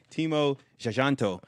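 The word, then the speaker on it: Timo Tjahjanto: Timo Jajanto.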